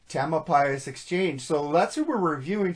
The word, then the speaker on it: Tamalpais Exchange: Tamalpais Exchange. Tamalpais Exchange.